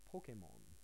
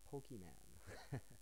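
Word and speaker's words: Pokémon: other day you know I learned Pokemon you know it's not pokem man so this is just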